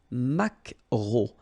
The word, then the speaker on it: maquereau: So technically this k, just pronounce it k, maquereau, maquereau. Alright? And then E, A, U, remember when you combine these three vowels, you get the sound O, maquereau.